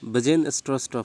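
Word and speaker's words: Bjarne Stroustrup: ওকে, এটা জাস্ট একটা উচ্চারণটা এরকম হবে, BJARN আছে, তো এটা বাজেন স্ট্রস্টপ হবে, এটা উচ্চারণটা ঠিক করে নেবে।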